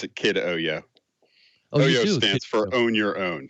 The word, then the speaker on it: KidOYO: it does it ever do you ever say kid oil i don't think you do do you i